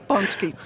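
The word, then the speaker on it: pączki: to hear something different but you did great punchki for longtime listeners you might remember Joanna who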